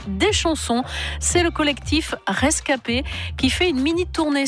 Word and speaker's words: ResKP: c'est vrai que comme le nom du collectif rescapés qui s'écrit r es cas ep mais avec bien sûr la phonétique ça représente ces jeunes